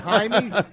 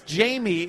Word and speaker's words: Jaime: His name is Jaime. Why Jaime. don't you just say, good word, Jew? No, it's not that. It's Jamie in Spanish. Yeah. It's pronounced Jaime because of the J.